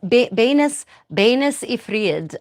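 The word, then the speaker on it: benes yfried: Well, let's go to our first beans, benes ifried, as it would be pronounced in 15th century English, or fried beans in the modernized English.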